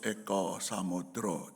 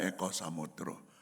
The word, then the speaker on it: Eka Samudra: Ini teman saya sebelum saya pindah ke Jakarta, namanya Paulus Eko Samudro. Jadi tulisannya Eka Samudra, tapi orang Jawa tahu kalau Eka Samudra itu mesti dibacanya Eko Samudro.